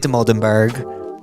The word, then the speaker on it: Dimoldenberg: Today we have the legend Amelia de Moldenberg.